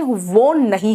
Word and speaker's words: won: WON का pronunciation वो नहीं है, इट्स वन।